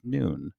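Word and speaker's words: नुन: translation is actually pronounced noon it is spelt a little bit differently by the way it's not n-u-u-n it's n-u-n like none but it's actually pronounced noon so i don't know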